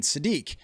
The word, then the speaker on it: Sadiq: is exactly like Kenyon Sadiq. It actually even rhymes with unique.